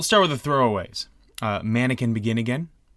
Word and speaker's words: manakin: talking about the redca mannequin yeah mannequin bird not a man Queen yeah like like the the just the creepiest thing ever yeah like a cousin of a piece of bread mannequin what it's spelled like that like Mana from Heaven kin k i n oh the